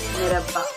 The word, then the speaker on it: merhaba: For example, in Turkish, hello is pronounced as merhaba.